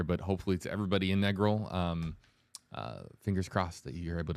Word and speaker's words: Negril: Negril. Thank you. Negril. I didn't know either. Yeah. So learning on the fly here, but hopefully to everybody in Negril, fingers crossed that you're able to stay safe